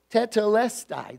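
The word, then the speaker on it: τετέλεσται: is a Greek word in one Greek word teda left sigh i think is how you're pronouncing tattoo lest I that I did pronounce it correctly it's one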